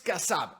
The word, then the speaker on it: Kassab: Kassab, se pronuncia así, Kassab, ¿no?